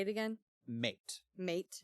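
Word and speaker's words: Maite: He convinces their head woman, I think her name is pronounced Mate. Say it again. Mate. Mate. It's spelled M-A-I-T-E.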